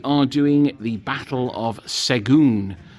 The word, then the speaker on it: Sahagún: We are doing the battle of Seon. Now that's not how it's spelled. That is how I believe it is pronounced though.